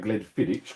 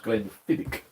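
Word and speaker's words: Glenfiddich: The barmaid was saying Glenn Fidich. Correct me if I'm wrong. I was told it's Glen Fidic. You don't pronounce it vidic.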